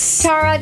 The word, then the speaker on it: Tara Branham: say it i didn't tara tell everyone your full name oh actually my first name is pronounced tara oh sorry that's okay but it's tara branham oh tara branham see that is what